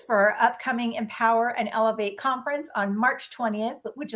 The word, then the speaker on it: eLOVEate: I am the owner of Elevate. Uh, sounds like Elevate, but spelled with the word love in it because I believe that